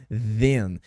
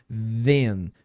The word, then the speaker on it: then: nela que é then then tá lembra que a pronúncia é do th sempre é aqui ó língua entre os dentes e faz um som de abelha nesse caso aqui ó then then que significa então